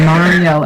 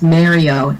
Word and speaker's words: Mario: One of my biggest pet peeves, though, is when someone mispronounces Mario as Mario. It's not Mario, you idiots. It's Mario.